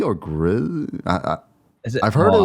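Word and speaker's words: Gris: And I think is it pronounced Gree or Grizz? Is it? I've heard Oh, it I was don't pronounced know. Gree.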